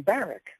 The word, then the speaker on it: Barack: and by the way he he pronounced his name barck of course now why